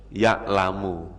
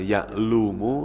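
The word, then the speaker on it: يعلم: maka Gimana cara bacanya ya tetap dibaca yalamu jangan dibaca yaaklumu atau ya limu Enggak boleh karena apa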